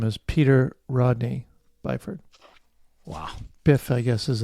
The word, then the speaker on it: Byford: It's pronounced Byford, actually. It's not Bifford. It's Byford.